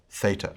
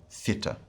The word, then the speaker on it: theta: both pronunciation systems is pronounced with a th sound as in thin so that's theta or theta next we have iota